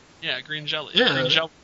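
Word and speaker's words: Green Jellö: You mean green jelly? Yeah, green jelly. Yeah. Green jello.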